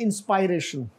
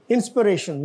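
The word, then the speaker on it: inspiration: और ये जो है इसको बहुत सारे लोग हमारे जो है ना वो बोलते हैं इंस्पायरेशन, इंस्पिरेशन, यस.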